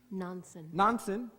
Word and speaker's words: Nonson: Nonson. Rhymes with Johnson.